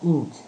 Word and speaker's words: inch: In, que es la abreviación en inglés de pulgada, la pulgada en inglés se pronuncia inch.